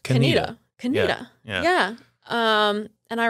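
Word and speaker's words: Conetoe: Did you call it Kontoe? Of course I did. Yeah. How can you not? I remember. C-O-N-E-T-O-E. Kontoe, yeah. But it's pronounced Kaneda.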